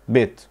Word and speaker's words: bit: اللي هناك اسمها bit، لكن دي bet. دي مفتوحة bet، واللي هناك مكسورة bit.